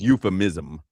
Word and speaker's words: euphemism: How do you spell that? U-F? Well, first of all, it's euphemism.